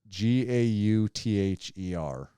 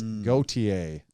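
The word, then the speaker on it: Gauthier: It is French. It's Gautier.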